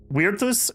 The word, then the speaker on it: Virtus: Virtus is correct.